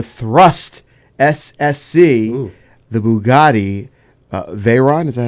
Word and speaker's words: Veyron: the Bugatti Veyron, is that how you pronounce it? Veyron, and the Koenigsegg, Koenigsegg.